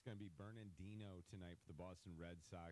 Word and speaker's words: Bernardino: Yeah, it's a tough pronunciation. There's a Bernardino. It's not just Bernard. It's not Bernardino. Bernardino that we grew up with.